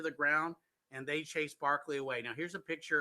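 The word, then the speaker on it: Berkeley: So Governor Barkley, as I said, that's how they pronounce it, would not retaliate against Indian attacks because he had his own deal going on.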